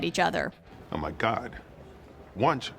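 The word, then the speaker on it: Wuntch: other oh my God wch sounds like lunch oh this opens up so many new avenues as as hilarious as his realization that lch rhymes with lunch is we had to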